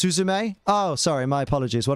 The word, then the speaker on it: Suzume: unbreakable is fantastic oh Fight Club great it's pronounced suzume oh sorry my apologies what did I say